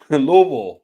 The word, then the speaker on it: Louisville: worship worm yeah one Louisville Louisville one syllable is what JT said that's how it should